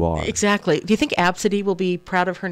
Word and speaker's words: Abcde: it weird but the the pronunciation of AB city that sounds like that's